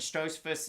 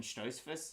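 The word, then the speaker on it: Stoltzfus: fight against nicholas states i said dustin stroz in the video listen the o's they get me the german pronunciations they get me i made a mistake i was wrong so i guess apologies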